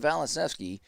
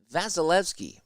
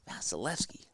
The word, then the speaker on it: Vasilevskiy: in the net behind valasewski how do you say that name fella vasilevskiy vasilevskiy okay and that's uh two